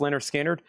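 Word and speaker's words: Lynyrd Skynyrd: Next over here is Leonard Skinner, pronounced Leonard Skinner, $34.99.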